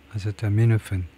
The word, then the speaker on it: acetaminophen: Acetaminophen. 아세타미노펜, 아세타. 이 두 번째 음절에 아세타미노펜. 그래서 첫 번째 primary accent는 미노펜. 이 MI에 있고요. 여기에 primary를 두고 secondary가 아세타. 여기에다 secondary를 두고요.